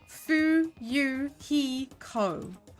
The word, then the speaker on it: Fuyuhiko: last name is my first name is pronounced fuu he Co I'm still in an experienced